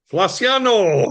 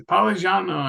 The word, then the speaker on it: Feliciano: My other editor says Poligiano, and I've always said it wrong my whole life, I guess. But you know what it is? Because I have a background in Spanish, and so I'm always wanting to say Palaciano, like it's I Spanish, know.